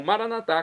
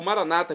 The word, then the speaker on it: Maranata: E agora eu clamo Maranatá, como dizemos nós católicos, ou Maranata, como dizem nossos irmãos separados, os evangélicos ou protestantes. Não importa a pronúncia, o significado é o mesmo.